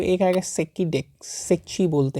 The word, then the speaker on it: Secchi: सेक्की disc. Spelling देख लो, सेची बोल सकते हो, SECCHI, सेची।